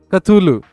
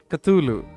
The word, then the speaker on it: Cthulhu: Look, so somebody just write it Stulu. Down. Stulu. I don't know what I'm saying. I've never known how to say it. Cthulhu. Cthulhu is how you say it.